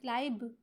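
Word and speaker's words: climb: बी जब हम क्लाइम पढ़ेंगे इसको हम क्लाइम क्लाइम करके पढ़ेंगे लेकिन जब हम इसको क्लाइमिंग करेंगे तो यह फौरन से बी जो है वह स्किप हो जाता है खुद बखुदा है और वह साइलेंट लेटर बन जाता है ही रेप्ड द रिस्ट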